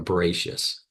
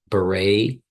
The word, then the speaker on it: Bereshit: Now, the first letter represents, you don't say the first letter, it's a silent letter. The Aleph is a silent. Bereshis, Bereshis, right?